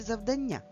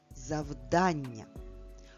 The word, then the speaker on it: завдання: Завдання чи завдання? Прочитай слово, правильно поставивши наголос. Завдання. Промовляти це слово треба саме так. Завдання. Наголос падає на звук А.